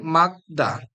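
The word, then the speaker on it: 맑다: যাবে রিউল বাদ যাবে এরপর দেখেন মাগদা মাগদা অর্থাৎ ডান পাশে শুধু গিউ উচ্চারণ হবে রিউলের উচ্চারণ হবে না অবশ্যই এভাবে আপনারা লিসেনিং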